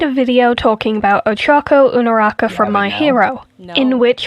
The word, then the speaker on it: Uraraka: You don't get to hear her pronounce Uraraka as Unaraka.